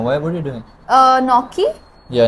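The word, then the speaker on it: gnocchi: are you doing uh noi yeah noi yeah noi spelled with the G guys uh fili that was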